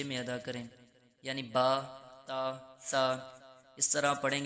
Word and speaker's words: ب: تلفظ سے پرہیز کریں، یعنی بے، تے، سے، ہے، خے، توئیں، زوئیں وغیرہ ہرگز نہ پڑھیں، بلکہ با، تا، سا، ح، خا، تو، ظا پڑھیں۔ عموماً آپ نے سنا